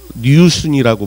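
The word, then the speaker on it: 旅順: 그 속간호를 내면서 이 사람은 그 당시에 여순 감옥에 여순이라는 건 저 중국을 얘기합니다. 류순이라고 발음을 하는데 중국어로는 그 여순 감옥에 복역을 하던 신채호의 그 한국사 온 거를 조선일보에 계속 연재를 하죠.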